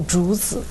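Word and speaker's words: 竹: word for bamboo Bamboo ju ju is a Jew like how a small child would ask for Jew Jew so I I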